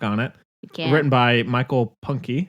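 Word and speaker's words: Punke: it written by Michael Punky is that how you say it punk I always say punk punk okay that was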